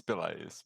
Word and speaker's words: Pelaes: Is it Yeah, it's Pelaes, but it's okay. Pelaes?